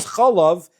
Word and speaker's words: chalav: It must be that everyone understands that even though the word can be pronounced the other way, because it's written the other way, it is pronounced chalav, and therefore everybody agrees it's milk.